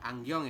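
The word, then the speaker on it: 안경: Angyong ya dibacanya. Tulisannya Angyong seperti itu.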